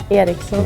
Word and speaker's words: Ericsson: like flat, while well in like the Swedish pronunciation, Ericsson is very like Ericsson.